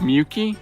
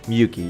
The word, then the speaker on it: Miyuki: Is that how you pronounce Miyuki? Miyuki, yes.